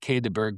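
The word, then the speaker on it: Quai des Bergues: The very first modern Chopards were were called the the the Quay de Berg and they and it's it's sounds like Quay de Berg, but it's it's spelled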